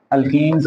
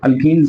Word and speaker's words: alkenes: अल्कीन्स are called olefins oil forming. क्यों? Because जो अल्कीन्स के लोअर मेंबर हैं, ध्यान से बोलिए, अल्केन्स नहीं कहना, प्रोनाउंसिएशन बड़ी वाज़ेह करनी।